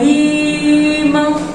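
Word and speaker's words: ímã: Quando a gente vê a palavra imã, ó, imã, quando eu vou vender, olha o imã, a gente percebe que a sílaba mais forte é o i, tá?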